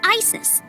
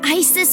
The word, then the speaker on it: Isis: versus Mama's named Isis but in ancient Egyptian it's pronounced closer to ISA or ASA hmm how do I